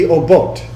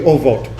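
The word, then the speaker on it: אֹבֹת: Is there a TH sound in Hebrew? No. It would be obot. But why in the world, actually ovot, technically, because if it's a middle syllable, it's not going to have a dagesh.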